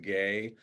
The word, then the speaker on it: Guay: The U is silent, so technically it's pronounced gay.